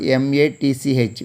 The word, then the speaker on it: match: In the same way, next word, M-A-T-C-H, match. Here also, T is silent.